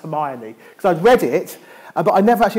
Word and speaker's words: Hermione: And so therefore, it's like, you know, for years I didn't even know Hermione in Harry Potter was actually pronounced Hermione.